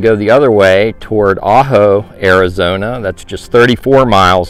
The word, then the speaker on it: Ajo: get to it throughout this video the correct pronunciation is ajo arizona just five miles from the u.s